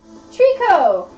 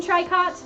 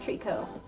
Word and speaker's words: tricot: you may have seen try cots but it's actually pronounced Treecko here I will sell it for ya Treecko you know just like taro you don't pronounce the T at the end okay yeah I was